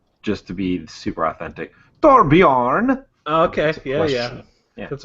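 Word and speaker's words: Torbjörn: Torbjorn, yeah.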